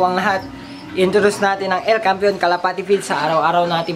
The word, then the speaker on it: El Campeon: And then, El Campeon El Campeon Pigeon Feast, yun ang tamang pronunciation mga kalapati.